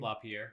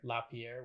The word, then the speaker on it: LaPierre: wayne how do you say his last name lapierre lapierre wayne papier a lot of the activities and